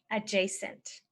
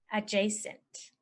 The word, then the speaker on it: adjacent: the next one is adjacent adjacent and jate adjacent means next to or it's right next to it so it's touching it so you could say AJ sent a letter to an adjacent tree AJ sent a letter